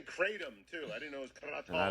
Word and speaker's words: kratom: can't correct somebody like it's pronounced kratom they're like fuck you yeah i mean it's it's hard it's a thai word i was trying to i tried to be respectful of the thai word and thai you're right